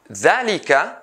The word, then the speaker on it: ذلك: ذلك, ذلك, I pronounce the, but I write it ذلك.